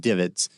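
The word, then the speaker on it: DVIDS: visual information distribution service d-v-i-d-s usually pronounced divots that's a great place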